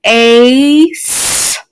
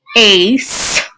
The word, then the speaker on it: ace: c and the e the e is crossed out because it's silent it makes no sound i put a little squiggly line under the c and the e because this um c is a soft c so it's saying then you have um the a the a is a long vowel sound so that's what this bar means here so it says ace ace race the next one